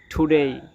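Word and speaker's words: today: কিন্তু আমরা এটাকে টুডে এভাবে উচ্চারণ করবো না। আমরা এটাকে উচ্চারণ করব। টি ও ডি এ ওয়াই টুডেই টুডেই দেখেন এখানে যে টি আছে টির পরিবর্তে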